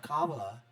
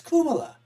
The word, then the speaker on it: Kamala: who's endorsing Kuma yeah Kuma is how you pronounce it right it's not Kamala in the Hindi dialect or the Indian South Asian dialect it's kumala but she doesn't want